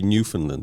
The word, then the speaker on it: Newfoundland: call it New Foundland but it should be New Finland is it correct okay yeah so if if you were to kind of spell it out it is New Found land but